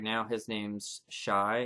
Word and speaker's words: Chai: His name's Shai. It's spelled Chai, and he's a fairy.